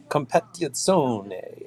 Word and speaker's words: competizione: In Italian, you pronounce every letter, so it's like competizione, and you got to say it's like Pagani.